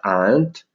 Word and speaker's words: aren't: contraggono no You aren't questo arent che si scrive si pronuncia ar e vedete che are